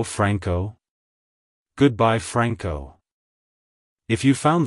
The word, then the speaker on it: Franco: it's pronounced as Franco Franco Franco to pronounce it correctly emphasize the friend syllable and pronounce the o as a short o sound like hello Franco goodbye Franco if you